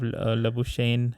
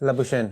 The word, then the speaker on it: Labuschagne: Plus, he dropped a very simple catch as well of Labuschagne. I don't know how he's pronounced. Labuschagne.